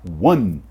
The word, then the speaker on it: one: Número 1 se escreve oni, mas na verdade a pronúncia dele não é oni, é one.